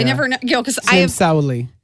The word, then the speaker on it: Sauli: Because I am Sauli.